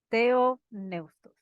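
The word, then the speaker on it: θεόπνευστος: ver en el original la palabra inspirado se pronuncia de un neustos teoneustos y vamos a ver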